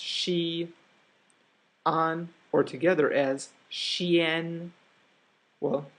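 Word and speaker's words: Xi'an: we just saw the painting if this is pronounced she on or together as Chien well the apostrophe tells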